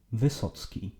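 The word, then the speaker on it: Wysocki: So it's either this or this, and it is pronounced Vysoc'ki.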